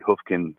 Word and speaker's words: Hoofkin: David Hoofkin, and by the way, that's how you pronounce it. It's David Hoofkin.